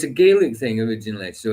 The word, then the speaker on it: Gaelic: It's Gaelic in Scotland, not Gaelic. Yeah, we it's say Gaelic, not Gaelic.